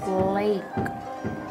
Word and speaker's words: Blake: good job Blacky black Blake BL you don't pronounce the e at the end computer-based instruction supports learning